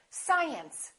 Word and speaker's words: science: of course we don't say science we say science now when you have a long word like this audiovisual audiovisual has six syllables audio visual in that case you really